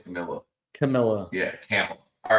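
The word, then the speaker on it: Kamala: put it right here it's Pamela with a K camela Pamela Pamela camela camela camela camela camela that's saying wasn't it no I saying Camila Camila yeah camel all right Cel thank you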